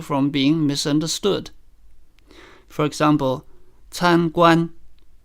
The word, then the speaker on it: 参观: For example, 参观 can be pronounced with both syllables in the first tone. 参观 meaning to visit. But it can also mean a restaurant if the second syllable is changed to the third tone, 餐馆.